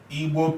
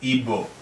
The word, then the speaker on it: Igbo: An erroneous pronunciation of Igbo people as Igbo. It is because these diagrams, the word Igbo has a diagraph, and non-Igbo people usually find it difficult to pronounce our diagraph.